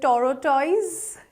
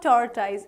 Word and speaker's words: tortoise: So, what is the correct pronunciation? Is it tortoise? Not really. It's not tortoise, it's tortoise. Tortoise is the correct pronunciation.